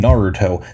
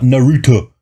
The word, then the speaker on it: Naruto: say and they like they over pronunciate like every letter in his name like in the show they called him Naruto that is his name that's the name of the show it's not Naruto like off I hate